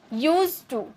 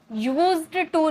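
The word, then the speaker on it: used to: की first form object लिखा रहता है यूज्ड लेकिन पढ़ा जाता है यूज यूज टू यूज्ड टू नहीं ओके जैसे मैं पढ़ा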